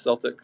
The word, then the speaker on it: Celtic: that gotcha we were saying it right it's Celtic okay I think I said Celtic in one